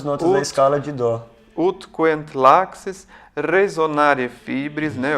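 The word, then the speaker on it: ut queant laxis: Então, por exemplo, o primeiro verso, me corrija se eu estiver errado na pronúncia, é ut quent laxis.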